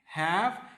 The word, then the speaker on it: have: Recuerden que la E final no va a sonar, muchachos, a menos que